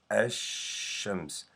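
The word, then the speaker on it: الشمس: name from the world actions we do not pronounce the lamb here I say as shams I skip the lamb and I go right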